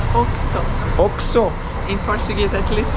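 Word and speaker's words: Oxxo: Yes, another thing was very interesting for us is these like convenience stores that are called Osho. We had seen them only in Mexico before. Actually, you pronounce Oxo.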